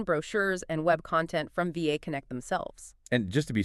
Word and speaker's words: VAConnect: some internal documentation, brochures, and web content from VAConnect themselves. And just to be super clear for everyone listening, that is pronounced VAConnect.